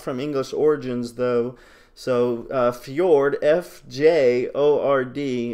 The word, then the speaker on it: fjord: there would be a new tab here called Fjord.